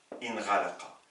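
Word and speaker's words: انغلق: Ça nous donne, je n'ai même pas besoin de mettre une kasra ici, vous savez qu'un alif sans hamza se prononce i.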